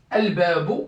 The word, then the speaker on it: الباب: Al-babu, regardez. Al-babu, maftouh. Je ne sais pas si vous voyez cette partie du tableau ou pas. Ouais. Regardez. Al-babu, maftouh. Le premier mot, il est défini. Il y a le L. Donc, comme ce mot qui est défini se positionne au début de la phrase, donc je dois absolument prononcer ce alif-là, ce alif de déterminant. Donc, je dois dire al-babu. Al-babu.